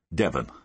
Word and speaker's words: Devon: eyebrows Blackstone side bloke goes by the name of Devon spelled like the county Devin anyway Devon came up